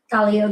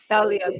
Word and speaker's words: Talia: You wanna pronounce it? Talia. Talia.